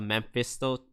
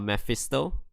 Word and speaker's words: Mephisto: happy to let the memphisto the meth the mephisto true yeah i always pronounce that name wrong i don't know why i always call it memphis though instead of mephisto so big damage already